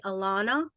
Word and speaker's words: Alannah: thank you so much for join joining us Alana now am I saying your name right Alana you are yes thank you okay all right